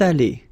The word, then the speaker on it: allées: Elles sont allées. Feminine and plural here. Okay, S, you don't pronounce them, but still you've got to write them, and then this little liaison here.